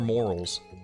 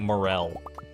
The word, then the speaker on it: morel: Is it moral, or is it, like, morel? I don't really know. Hopefully you know what I'm talking about. It's the spongy-looking mushroom. It's the mushroom that looks like a tryptophobia nightmare. Is it tryptophobia, the one with all the holes and stuff? Or is that something else? Second pronunciation, morel.